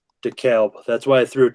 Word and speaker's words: DeKalb: DeKalb. That's why I threw it to you, because I forgot the pronunciation.